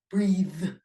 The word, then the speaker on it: breathe: to sound and pronunciation another example of its contribution to sound and pronunciation is in a voiced th so the difference between bath and bathe um teeth claw clothe loath breath breathe okay so uh not breath it was breathe um but that voice